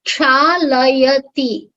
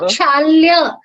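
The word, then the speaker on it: क्षालयति: It is kshalayati. Shalayati, It's not kshalya. When you say kshalya, you are changing the sense of usage. You are going from active voice to passive voice.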